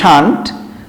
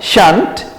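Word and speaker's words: shan't: পারো সংক্ষেপে দিলে হবে শান্ট, আর উইল নট হবে হচ্ছে অন্ট। কেমন? উচ্চারণটা ঠিক করে নাও, শান্ট won't, শান্ট won't, শ্যাল নট শান্ট, will not won't, ভুল করবে না।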